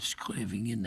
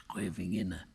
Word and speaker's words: Scheveningen: I'm not pronouncing that exactly right. That was the name of a town that in the Second World War, the Dutch underground used to, because the Germans were infiltrating, but they could never pronounce Scheveningen.